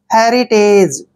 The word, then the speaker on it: heritage: Next word HERITAGE, देखिए एच का उच्चारण है करते हैं, ई को ए की मात्रा लिखेंगे, RI को री लिखेंगे ऐसे, और टी का उच्चारण टे करेंगे, ए को ए की मात्रा पढ़ते हैं, GE को जय पढ़ते हैं। हेरिटेज, हेरिटेज क्या होता है